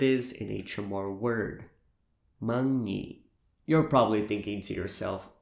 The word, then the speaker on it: månnge': The ngi part in singing?